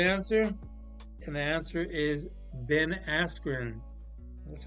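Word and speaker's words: Ben Askren: ready for the answer and the answer is Ben asrin that's how you pronounce it Asen yeah Ben something Ben asrin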